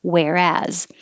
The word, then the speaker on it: whereas: Whereas, or whereas, put the stress on the second syllable, whereas.